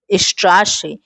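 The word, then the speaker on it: Straße: "Strasse," यह चिह्न यहाँ दोहरे S की तरह लगता है।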